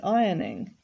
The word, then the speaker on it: ironing: It needs ironing. And you can see there the word ironing also has a silent letter. It's a silent R.